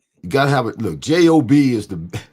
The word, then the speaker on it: Job: Look, J-O-B is I know it's pronounced Job in the Bible, but it's the longest book in the Bible. J-O-B, job. Yeah. Job. Exactly. Job had a job. It's pronounced Job, but it spells job.